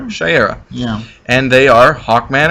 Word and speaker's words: Shayera: Oh, so here comes Carter Hall Carter Hall and Shayera Hall, who are How do you pronounce Hawkman. that, Shire? Shayera.